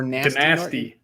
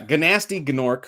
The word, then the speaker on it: Gnasty Gnorc: kingdom to defeat nast is it gnasty gnorc or nasty it's gnasty they do that they make a point of pronouncing that g man i love it love it love it uh ganasti gnorc who has overtaken the